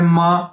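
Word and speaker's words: 吗: उसके बाद दोस्तों हमारे पास अगला जो वर्ड है वो है मां, जिस तरह हम अपनी माँ को कहते हैं माँ, तो सेम इसकी प्रोनाउंसिएशन ये है एम ए माँ।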